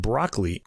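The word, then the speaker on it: Brockley: lying between ladywell and broccoli not like the vegetable it's spelled b r o c k l y in southeast London so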